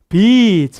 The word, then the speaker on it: beach: 짧게 발음하시면 안 돼요. 이거 이 길게 하셔야 돼요. 짧게 하면 욕된다, 큰일 난다. 그래서 이렇게 삐치하면 안 되고 하기도 좀 그래. 비치 이렇게 끄셔야 돼요.